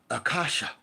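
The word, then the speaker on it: Akasha: Like the word is pronounced accasha.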